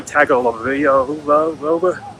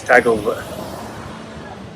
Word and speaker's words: Tagovailoa: game against the Alabama Crimson Tide and Tua Tagovailoa. I know how to say it. It's Tagovailoa.